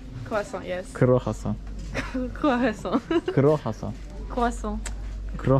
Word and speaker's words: croissant: I'm French, so Okay. I know how to pronounce it. No, I know better than you. This is Kro Hasan.